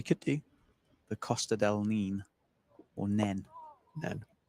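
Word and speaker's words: Nene: We could do the Costa del Nin or Nen Nen. Nen.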